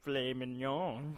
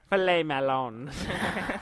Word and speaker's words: filet mignon: I only eat filet mignon. Filet mignon. No. In the succulent bacon. Melons. Filet melons. That's not how you say it.